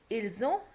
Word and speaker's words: ils ont: Okay, the verb avoir, note that s of the subject pronoun nous, vous, ils, elles is pronounced as an English z in the phrase nous avons, vous avez, ils ont, elles ont. So that's what I told you, because there is a vowel after s, so we will pronounce it as z.